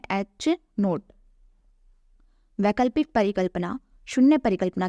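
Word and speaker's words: H₀: denote किया जाता है और इसका उच्चारण है h नोट वैकल्पिक परिकल्पना शून्य परिकल्पना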